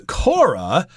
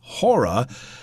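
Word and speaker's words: Χώρα: time is it but here is pronounced hora which is in the Greek language and again the capital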